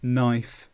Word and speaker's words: knife: K before N is not pronounced. It's silent. Knock, knife, knee.